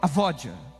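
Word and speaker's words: עבודה: O significado da palavra adoração no hebraico é avodar. o sua pronúncia no hebraico, no original, é a vódia.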